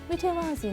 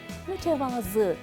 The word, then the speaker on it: mütevazı: daha güzel olsun Hemen hemen herkes alçak gönüllü birinden bahsetmek isterken Mütevazi ne kadar mütevazi bir insan şeklinde kullanırlar ancak mütevazi paralel demektir Sözlük anlamı olması gereken mütevazı şeklinde telaffuz etmektir değil kelimesi değil şeklinde